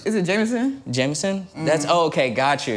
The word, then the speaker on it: JMSN: Jameson?